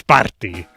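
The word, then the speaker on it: Σπάρτη: Nowadays it's, well, it's Sparti. Sparti. So where did that Doric A go?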